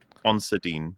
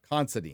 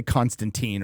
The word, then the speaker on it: Considine: Patty, how do you pronounce Patty's last name? It's Constine, as far as I know. Constandine. Considine. Considine. Okay. Considine. Okay. I always say Constantine or Constantine or something like that.